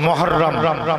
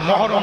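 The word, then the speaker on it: محرم: একটু আমার সাথে বলেন মহাররম বলুন মহাররম মহরম বলেন ভুল উচ্চারণ উচ্চারণ শিখতে হবে মহাররম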